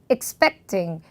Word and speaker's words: expecting: 너무 여러분들이 동사를 강조한다면 expect 이렇게 되면 또 예상 이렇게 들리거든요. 그래서 그냥 짧게 expecting 이렇게 절제되게 발음하시면 제일 좋고요.